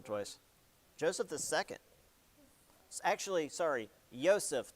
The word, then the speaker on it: Joseph: Do you remember which Joseph this was by chance? Nah, that's okay. This one's multiple choice. Joseph II actually, sorry, Yseph because Austrian and they pronounce Javs differently.